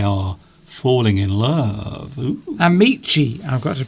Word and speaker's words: amici: Amici, I've got to pronounce, says Alessandra. I didn't pronounce that. I think that was the Italian word. Amici.